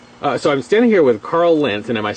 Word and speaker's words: Karl Lentz: Okay, so I'm standing here with Karl Lentz, and am I saying it correctly?